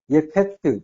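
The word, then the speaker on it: יפת: 앞에 요드를 붙이면은, 야페트, 이렇게, 예페트 발음이, 이렇게 이제 가는 거예요.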